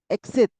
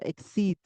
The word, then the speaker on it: exceed: Then exit. I think the person means exceed because exceed 100 reading 100 books. So be careful how you pronounce it. So exceed, longer E.